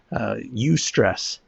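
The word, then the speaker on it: eustress: There's something called the U-stress curve. It's spelled EU stress. So U-stress, and it goes this way: as stress increases, productivity increases to a point.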